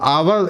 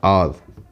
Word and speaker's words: our: अब आवर इसको पढ़ते हैं, लेकिन इसको सही प्रोनाउंसिएशन इसको आप पढ़ा जाता है, और।